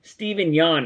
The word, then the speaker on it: Steven Yeun: He should be Nightwing, and I just don't, I love Steven Yeun, right?